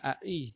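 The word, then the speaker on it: אחי: Nah, di sana ada kata ai yang artinya saudaraku, di mana tulisannya itu akhi, ya, akhi. Karena kaum Samaria ini atau dalam bahasa Samaria ini huruf het ini tidak diucapkan, maka ai anaki.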